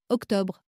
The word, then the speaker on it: octobre: Écoutez, octobre, O-C-T-O-B-R-E. Bol, B-O-L. Parole, P-A-R-O-L-E. Volcan, V-O-L-C-A-N. Troisième façon, O qui s'écrit E-A-U.